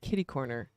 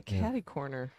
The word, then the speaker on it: kitty corner: little bit of right see you say it like I do I grew up saying kitty corner I hear a lot of people say caddy corner I think they're wrong I do too we